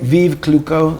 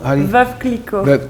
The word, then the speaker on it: Veuve Clicquot: Vive Clicquot? Veuve Clicquot.